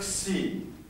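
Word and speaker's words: ξ: one two and three that's called the letter c that's the x sound again if you need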